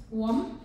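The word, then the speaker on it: łom: Wom. Wom, mit L und? Wieder dieser L mit Strich, ganz genau.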